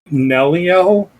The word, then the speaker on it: Nelliel: Her name is like weird, but like it's pronounced like Nelliel, and she like goes by Nell.